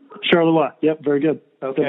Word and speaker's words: Charleroi: Did I pronounce that correctly, Charleroi? Charleroi, yep, very good.